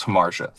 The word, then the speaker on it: Hamartia: And this band, your your first single, which I'm also going to have you pronounce, uh Harmar Harmartia. Thank you. So, our first our first single is Harmartia.